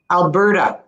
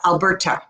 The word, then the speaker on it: Alberta: We actually still say the T, but we make it softer, like a D. Very soft, yeah. Like a D. It's actually pronounced like a D. Alberta, not Alberta.